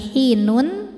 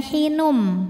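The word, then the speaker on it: حين: Jadi kita tidak membunyikan lagi hinun, melainkan hinum. Jadi bunyinya M sambil kita tahan bunyi M-nya.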